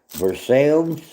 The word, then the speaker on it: Versailles: Versailles. That is how it's pronounced.